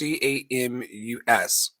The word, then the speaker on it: Camus: How do you pronounce Camus? Camus. Albert Camus. Sure. Camus? It's like Camus? famous. Camus. I don't know. I think it's Camus. Is it? Albert It's Camus. French. Yeah, Camus.